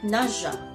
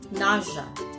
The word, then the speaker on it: nausea: For sure, everyone reads it as nausea, but the proper pronunciation is nausea, nausea, nausea.